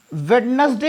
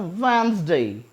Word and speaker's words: Wednesday: That is नॉट वेडनेसडे. D silent रहता है. और इसे हम बोलते हैं वेंसडे.